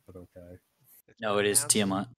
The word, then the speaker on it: Tiamat: No, it is Tiamat. It's Okay, pronounced Tiamat.